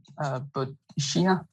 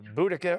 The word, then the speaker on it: Boudica: Boadicea. How do you say? Boadicea. Right? I thought it, okay. Can you say that again? Boadicea. Boadicea, final answer. Yes, Boudica or Boudica is the answer.